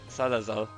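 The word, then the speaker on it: Salazzle: Next up, we have Salazal. Oh, I just looked up how to pronounce this.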